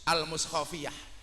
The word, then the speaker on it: Al-Mushafiyah: setinggi-tingginya kepada bapak-bapak pengurus Al-Mushafiyah. Itu H apa kho? H. Kalau H itu setahu saya tidak menggunakan KH dalam ejaan bahasa Indonesia, tapi hanya menggunakan H, Al-Mushafiyah. Kalau KH itu kho, Al-Mushafiyah. Al-Mushafiyah yang masih menggunakan tinggalan